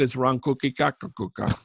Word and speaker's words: Ronkonkoma: It's Ronkonkoma. The M is silent.